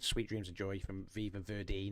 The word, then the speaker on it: Viva Verdi: Sweet Dreams of Joy from Viva Verdil. and Train Dreams from Train Dreams. So none of us picked Sweet Dreams of Joy from Viva Verdi, not Viva Verdale.